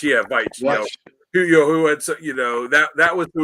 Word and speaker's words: Veitch: There was I don't know how do you pronounce the last name? Veitch, yeah, Veitch.